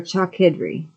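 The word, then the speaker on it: Chalkydri: And I looked and saw other flying elements of the sun, whose names are phoenixes and chalkidri, or chalkidri. Yeah, it's spelled like chalk with a Y, D-R-I.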